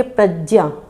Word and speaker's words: प्रज्ञा: इसका उच्चारण तो ग और या की तरीके से सम्मिलित रूप से करते हैं। लेकिन आप बहुत बार उनको देखेंगे। जैसे वो बोलेंगे प्रज्ञा तो कहेंगे प्रज्ञा। इस तरीके से उच्चारण वो करते हैं।